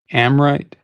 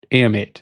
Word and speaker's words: Ameight: From my understanding, people are pronouncing it like I thought it was like right from the gut, Amrite, but Ameight is what people are saying. Ameight knives.